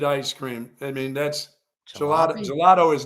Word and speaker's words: gelato: I thought it was a gelat all this year or all this time. Gelato.